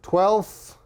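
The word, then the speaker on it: twelfth: with native speakers is we don't pronounce the F we just skip it so for example if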